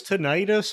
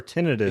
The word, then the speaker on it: tinnitus: ringing in the air yeah yeah maybe it's tinnitus or tinnitus it could be one of those either one